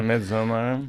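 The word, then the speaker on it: Midsommar: I had not seen Hereditary or Mid What do how do they pronounce Midsomar? Midsomar.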